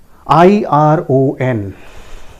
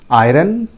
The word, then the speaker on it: iron: It is pronounced as iron. Iron. R is not pronounced here. R is silent rather.